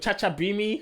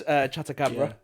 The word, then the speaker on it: Chatacabra: Chacha Bimi? What was he saying? Chacha Bacha. That's Chatacabra.